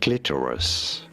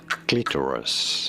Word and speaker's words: clitoris: In British English, this is normally pronounced as clitoris. Clitoris in American English. However, this is usually said as clitoris. Clitorus in American English versus clitoris in British English.